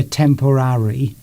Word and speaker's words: temporary: It's difficult because it sort of fades away, that last syllable at the end. You don't go temporary, it's temporary.